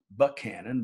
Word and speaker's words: Buchanan: a previous owner mr buchanan pronounced buckhannon by the locals built the dam that